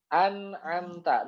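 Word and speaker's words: أنعمت: Maka dibacanya an'amta, nunnya jelas. An'amta. Begitu ya, bukan am atau ya nunnya berubah enggak, tapi dibaca jelas sesuai dengan makhrajnya.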